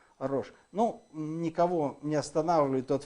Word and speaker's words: Рош: Ну, он читается как R-O-S, Ч, значит, H. И, значит, Рокс. Вот из Рош, значит, все-таки, наверное, не так прочитали, скорее всего, это Рош.